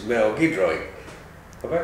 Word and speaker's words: Giedroyc: of next week's play slice and it's Mel gidro have I pronounced that rightel almost say it again getro getro I do big no that's good um